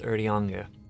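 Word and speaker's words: Urianger: i was listening to it's um announced without the r so it's already onga for ariane berdyanje what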